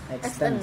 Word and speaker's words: Extens: yang benar Pelafalannya? ya Iya. extend, X T E N S. Extens. Extends. Extends. Ya, itu yang Extension benar. ya. Ha. Dari kata extension.